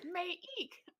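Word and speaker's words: Maika: King Mongoose is saying Mike, a half wolf, or make a half wolf, or may eek, a half wolf. I like Any that. of these pronunciations are acceptable.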